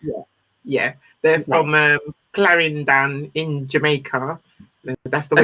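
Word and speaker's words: Clarendon: is that correct yeah yeah they're from um claran in Jamaica that's the way you pronounce it yeah Claren and so my parents broke up when I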